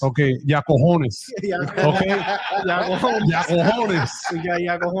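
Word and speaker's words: Jakučionis: David, pronunciation one more time, last name? Yakuchonis. Okay, Yacojones.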